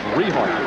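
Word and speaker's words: Richart: gator backs all right let's pronounce the young man's name correctly it's rehar r-i-c-h-a-r-t the quarterback larry riehart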